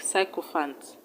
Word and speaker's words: sycophant: You pronounce the letter Y as I in a way like sycophant, and you pronounce the letter Y as E in a way like symbol.